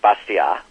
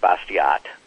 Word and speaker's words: Bastiat: The name's pronounced something in French like Bastiat, but it looks like Bastiat in terms of English spelling and pronunciation.